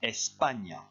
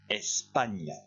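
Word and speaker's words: España: et ça se dit n'oubliez pas que ça ça se prononce comme g n en français ça se dit répétez après moi espagne encore une fois espagne normalement en classe j'ai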